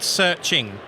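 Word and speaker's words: SearXNG: of stuff selfhosted search there's an app called searching it's spelled seia like you see a stake and then xng okay it creates an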